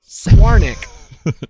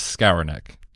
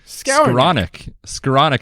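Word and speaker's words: Skowronek: fantastic coronic scarono nope swarnik nope I believe the common pronunciation out there is scour neck scleronic is how I've heard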